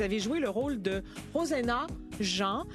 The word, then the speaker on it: Rosena: Vous avez joué le rôle de Rosena Jean. Rosena, merci. Je ne savais pas comment on le prononçait parce que ça s'écrit R-O-S-E-N-A.